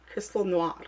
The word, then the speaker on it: Crystal Noir: for some weird reason Crystal Noir is I don't know why I say it the English way because I speak French so it's Crystal Noir like I can say